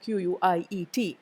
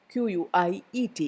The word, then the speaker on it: quiet: quite is an adverb there is also a difference in the way we pronounce the two words q-u-i-e-t is quiet it is spelled with a ear sound in between quiet whereas the other one is quite quite there is no ear sound quite so quiet is an